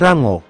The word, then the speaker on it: Lango: pertama ada Rango stomak atau lango stomak dalam pelafalan Jepang menjadi Rango Rango adalah anak tertua